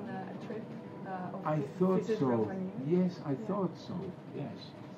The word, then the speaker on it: Rovaniemi: And how do you pronounce Rovaniemi? Rovaniemi.